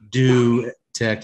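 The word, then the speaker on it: Dutech: do tech it's d-u-t-e-c-h but it's pronounced do tech like like doo-doo what the [ __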